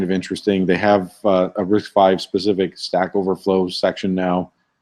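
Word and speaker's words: RISC-V: using a 64 variant of this it is pronounced risk 5 as it says here but if you scroll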